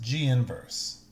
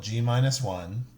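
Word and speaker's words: G⁻¹: over it it's pronounced G inverse do not call it G -1 and don't even think of the negative 1 as an exponent it's not it's simply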